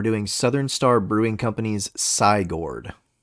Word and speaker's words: Cygourd: Southern Star brewing companies cord I'm glad that you pronounced that correctly because I've been saying Cyborg and that mean makes no sense considering this is a